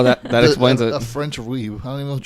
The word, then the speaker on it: Ouib: A French weeb. I don't even know what you call A that. Fweeb. Weeb. Fucking fweebs. It's a weeb, but it's O-U-I instead of weeb.